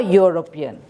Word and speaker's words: European: she is a European because E is again the sound of the sound of he again is of why European you don't say European